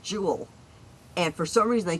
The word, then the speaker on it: Jewel: Oh, what's even worse is there's a a a store here called Jewel and for some reason they keep putting an S on the end and calling it jewels. It's like jewels.